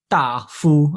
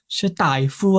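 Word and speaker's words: 大夫: I was pronouncing it Da Fu, and then my teacher was like, Dai Fu.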